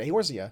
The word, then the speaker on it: Eorzea: Yes, that's how they say it, Eorzea, because that's how it's spelled.